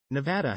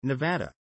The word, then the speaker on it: Nevada: Nevadans pronounce the second syllable with the of trap, while some people from outside of the state pronounce it with the of palm.